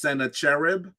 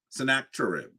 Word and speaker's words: Sennacherib: the battle against um sometimes his name is um pronounced Senator cherib or sennacherib um and so Senate Senator chirp is the way I say his name um he actually uh